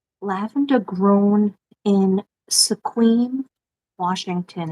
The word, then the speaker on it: Sequim: name lavender grown in Sequim Washington it's pronounced like swim so quim Washington lavender I would love